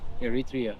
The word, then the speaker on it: Eritrea: Eritrea.